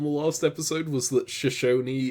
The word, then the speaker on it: Shashi: last episode was that Shashi is pronounced shash and not shash um although if you just read it it sounds like it looks like it should be shash but that's just I think